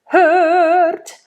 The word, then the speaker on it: hört: Hört, hört, hört. I'm not in the right key, just telling you that, just demonstrating. Hört. That is a closed Ö. It's not an open one.